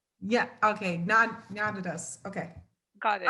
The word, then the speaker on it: Gnanadhas: It's Gnanadhas. Yeah. Okay. Gnanadhas.